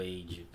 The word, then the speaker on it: Heide: medalha de ouro Edge Qual é a pronúncia correta é como se não tivesse o h Então beleza errado mas já